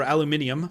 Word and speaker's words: aluminium: This is aluminum or aluminium, depending on your pronunciation of that, and so it's still using